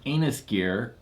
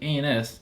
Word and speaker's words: A&S Gear: Is not pronounced anus gear. It is actually A&S, and it stands for Army Navy Surplus.